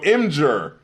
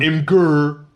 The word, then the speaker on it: Imgur: And that soft G sound is where this comes from. So Imgur, not Imgur. Oh my god.